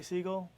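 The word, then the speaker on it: Siegl: it and enjoy it uh name is seagull s i e g l usually they want me to spell it but anyways uh my name is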